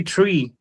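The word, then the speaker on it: three: Number 3, you're supposed to say tree.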